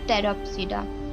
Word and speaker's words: Pteropsida: Number 1 जो कि है इसका वो है पैसिलोप्सिडा, पैसिलोप्सिडा, second one इज लैकोप्सिडा, third one is Speropsida, fourth one is Pteropsida। इसमें P साइलेंट होता है, इसका ख्याल रखना है।